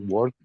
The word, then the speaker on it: worked: I I work okay but the pronunciation is not work so okay so can you help us Mr Fuentes what's the pronunciation can you help your classmate please she worked she she work okay worked